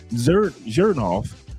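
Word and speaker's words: Xerjoff: The the X makes a Z.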